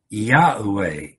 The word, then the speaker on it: Yahweh: it a certain way, people even disagree on how to pronounce it. But the meaning seems clear. Even scholars, and the majority of scholars, would say Yahweh. Yahweh is probably the best translation.